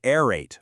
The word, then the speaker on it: aerate: In words like aerate or aerial, the pronunciation makes the vowels blend together. Amateur spellers hear that a air sound, and they immediately write